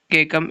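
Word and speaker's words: caecum: सो उसका पार्ट जो है वह केकम होता है। सी ए सी यू एम केकम। ऐसे ही उसकी प्रोनाउंसिएशन करते हैं।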